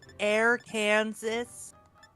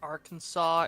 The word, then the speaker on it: Arkansas: It's Arkansas and Canzaw as they should be pronounced.